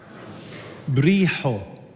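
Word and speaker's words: ܒܪܝܟܐ: Ho, say ha ha. You have to, not ha, ha. Ha, you pronounce it from the bottom of your throat and push air out.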